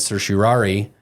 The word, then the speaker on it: certiorari: Supreme Court, and they granted certiorari and actually decided this case.